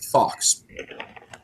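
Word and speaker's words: Phox: a guy named Oz Fox. Fox, incidentally, is spelled P-H-O-X because it's Star Wars.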